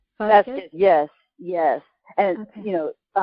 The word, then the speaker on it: Vazquez: Vazquez, yes, and okay. you know, yeah, that it's spelled with a Z. A lot of people mix it up and spell it with an S, but yes, it's Vazquez.